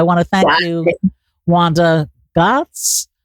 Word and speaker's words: Gozdz: I want to thank you, Wanda Gozdz. Gozdz? Gozdz. It's not an easy name to pronounce.